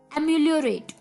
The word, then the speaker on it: ameliorate: तो चलिए, द 12th word for the evening is, दोस्तों ये वर्ड थोड़ा सा प्रोनाउंस करने में अटपटा लग सकता है आपको, एम्यूलोरेट।